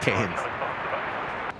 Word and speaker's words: Cairns: Cairns. Cairns. What do you mean? Cairns. You know, you sort of do the eye bit. Tiny little bit of the eye.